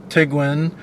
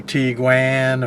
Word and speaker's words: Tiguan: they got d1 so the actual way you are supposed to pronounce that if you're going to pronounce that the German way is to pronounce it as the Tiguan it's not the tig one or or Tiguan or or Taiwan or anything like that the proper way to pronounce it the German Way is Tiguan and interestingly enough we